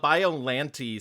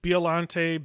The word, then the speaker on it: Biollante: Um I assumed it was bilante based just on uh Japanese.